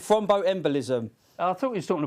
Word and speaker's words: thromboembolism: They've made me pronounce it thromboembolism.